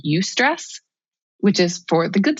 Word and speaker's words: eustress: it's EUSTRESS. So like the U prefix meaning good. So it's eustress. It's the opposite of distress, which is bad stress.